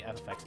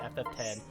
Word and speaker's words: FFX: Sorry for pronouncing FFX, by the way. I know it's supposed to be FF10, and if you pronounce it FFX, you're some kind of weirdo.